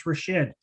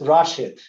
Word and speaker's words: Rashid: uh council dance more so it's been pronounced many different time ways and uh over many councils so i can tell you that i'm used to everything but it's rashid so that's how my mama calls me if you can say